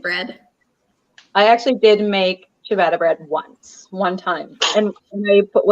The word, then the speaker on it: ciabatta: Okay, how do you pronounce what Emmy said? Ciabatta? Ciabatta? Yeah. How do you say that? Ciabatta.